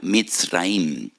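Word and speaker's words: מצרים: Y recuerdan la aflicción, la amargura de la esclavitud, porque la palabra Egipto en hebreo se pronuncia Mitzraim.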